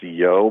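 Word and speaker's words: Yeo: then his associate is, it's pronounced Yo, but it's spelled Y-E-O.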